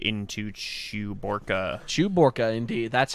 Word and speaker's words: Chewbacca: got our shot from ig-88 D into Chewbacca Chewbacca indeed that's how you pronounce that yeah didn't you see the movie